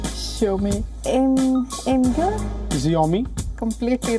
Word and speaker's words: Imgur: The correct pronunciation is Imgur.